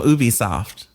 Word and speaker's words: Ubisoft: a huge studio that you often make fun of me for how I pronounce their name, but it's actually the correct way. So my next game is from Ubisoft.